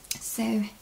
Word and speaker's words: Saule: rest of the episodes Sol in case I didn't say in case you don't remember Sol means Willow and French you are absolutely free to pronounce it like so it's sort of is